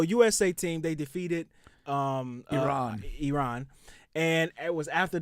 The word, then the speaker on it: Iran: yes here we go you're pronouncing our country's name wrong our country is named Iran not Iran please once and for all let's get this